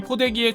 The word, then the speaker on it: 포대기: 매는 법 이나 자신만의 포대기 활용법 노하우에 대해 사진이나 영상을 찍어 올리는 사례도 심심찮게 발견할 수 있죠 놀랍게도 영문 표기는 한국식 발음 그대로 포대기 입니다 서울을 3 울로 현대를